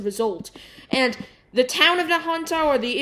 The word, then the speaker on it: Nahunta: The strongest of which was the Nahunta tornado, which actually I now figured out is pronounced Nahunta.